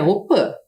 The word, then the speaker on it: Opã: Embora a gente escreva aqui Opi, que é a casa de reza, a pronúncia correta é Opã.